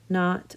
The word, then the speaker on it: knot: Not. Ooh, there's not. Sounds like an N, but the K is silent, but it still counts when you're alphabetizing.